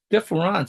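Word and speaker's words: différance: of the contrast but he says differance and I think that's an important part he says different differance in a sense uh not only difference but he he's referring by pronouncing it that way in I guess in French that there's always a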